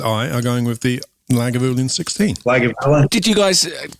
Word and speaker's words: Lagavulin: How do you pronounce Lagavulin? Because we've heard so many different ways. Lagavulin.